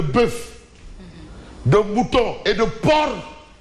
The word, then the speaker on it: porc: la hausse les enfants éviter de prononcer le C il ne se prononce pas il est muet fort la pénurie de